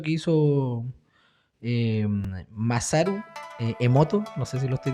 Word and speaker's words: Emoto: hay un experimento que hizo eh masaru eh emoto No sé si lo estoy diciendo bien emoto así se pronuncia Me estoy poniendo cre la sección